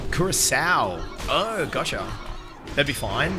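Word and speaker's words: Curaçao: The second C is pronounced as an S, and it's a small country that was a Dutch colony at some point. Curacao.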